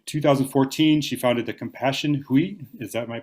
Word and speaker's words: Hui: And in 2014, she founded the Compassion Hui. Am I pronouncing that correctly? Hui, yeah.